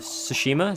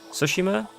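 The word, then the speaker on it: Tsushima: It's more like with S than with T. Ghosts of Sushima. Is that how you say it? Sushima.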